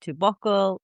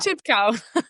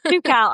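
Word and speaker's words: Toubkal: camp and re wilding in Zimbabwe and Mount Tobacle. Tobacco. Tobacco. How do you say that? Tipcal. Tukcal.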